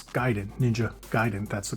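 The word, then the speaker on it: Ninja Gaiden: So it's like people who say ninja gayen. No, it's Giden. Ninja Giden. That's the correct pronunciation.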